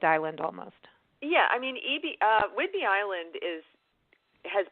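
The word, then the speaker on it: Ebey: tell some spelling but they pronounce it EB okay okay because I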